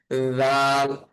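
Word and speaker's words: ذ: তারপরে হরফের নাম হচ্ছে রাল। রাল। রালের উচ্চারণটাও এই সায়ের মতো উচ্চারণ হবে।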